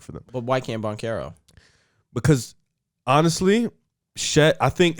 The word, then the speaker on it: Banchero: It's Banchero.